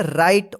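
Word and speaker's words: write: इसको क्या पढ़ेंगे invite W आर आई टी ई इसको क्या पढ़ेंगे राइट राइट नहीं पढ़िए यहां पे जो है ना डब्लू साइलेंट रहता है ठीक है राइट इसको पढ़ा जाएगा एफ आई आर ई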